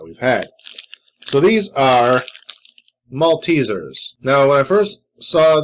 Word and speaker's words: Maltesers: a long time ago i thought they're just called malteses and then i kept hearing uh european youtubers talk about maltesers and i was like are they intentionally mispronouncing that and then i actually got the package and saw that they are actually called maltesers not maltese is um what these are